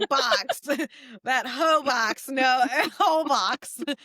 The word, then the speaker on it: Holbox: Hobox? Holbox. So Oh, maybe I'm I pronouncing that thought you wrong. said Hobox. Hoe box. That hoe box. No, whole box.